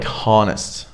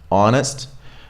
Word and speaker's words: honest: supposed to right so there is a silent H in some words and you're not supposed to say anything here you just drop it so we don't go like Honus or honnor we go honest honor our yeah it's exactly like